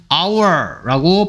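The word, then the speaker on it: hour: 뜻을 가진 단어는 누구예요 h가 소리가 안 나기 때문에 our라고 발음해야 되고 그래서 1시간이 모였더라 했습니다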